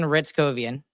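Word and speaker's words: Hryckowian: It starts with an H, but he but you start it with an R. Nice. His nickname is Ritzy and Ritz Kovian and he went off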